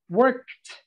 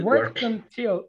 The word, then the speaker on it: worked: need to pronounce that worked work work it's a little different work yeah i worked until and then here you joined the sounds too work work until worked until okay i worked until 5 30.